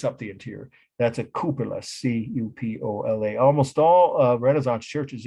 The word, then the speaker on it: cupola: And I'll spell that C-U-P-O-L-A, cupola.